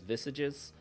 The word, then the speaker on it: visage: The masks visage, which looks like visages. Depends on if you want to pronounce it the French way or the English way. English way is visages, but I think the French way is visage.